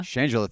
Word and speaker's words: Shangela: he tied up director / director and then mispronounced the name again shangela shangela thank you so you don't watch enough drag